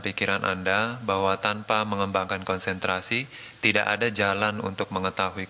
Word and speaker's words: konsentrasi: Concentrasi. Is my pronunciation right? No. Concentrasi. Konsentrasi. Konsentrasi.